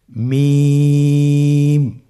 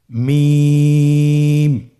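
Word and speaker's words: ميم: হ্যাঁ, 2 ঠোঁট চেপে ধরে আমরা উচ্চারণ করব মিম।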